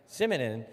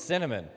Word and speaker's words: cinnamon: and sprinkled with simonon simonon is not the way you pronounce it it's cinnamon and you know what's